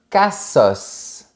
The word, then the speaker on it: cassos: Attention, on prononce bien le S. Un cassos.